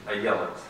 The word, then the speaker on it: Ayelet: As for Madame Waldman, she pronounces her first name Ayelet Waldman.